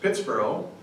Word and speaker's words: Pittsburgh: did grow up in Pittsburgh uh characterized by one travel writer as hell with the lid off it's spelled um b-u-r-g-h like Edinburgh Scotland and it was probably pronounced Pittsboro by General Forbes British general Forbes who